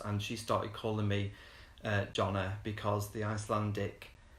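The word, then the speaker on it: Jón: They pronounce the J as a Y, so it's Jon, I think, rather than Jonna, because Jonna is a girl's name, but Jon is a boy's name.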